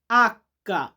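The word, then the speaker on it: acca: এটার ইতালিয়ান হবে আক্কা।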